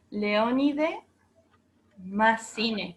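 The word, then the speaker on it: Léonide Massine: ¿Masín era? Un momento. Leónide se escribe Leo, como león, pero con un acento en la E. Leónide Massine, con doble S.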